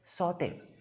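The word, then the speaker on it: sauté: Okay, another word is saute. Please focus on the pronunciation.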